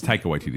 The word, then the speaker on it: Taika Waititi: It's Taika Waititi, is how you say his name.